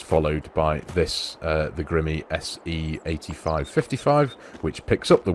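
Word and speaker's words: Grimme: It's not grime, is it? It's Grimmy.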